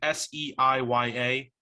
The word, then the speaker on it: Seiya: It's spelled that way. It's like Seiya.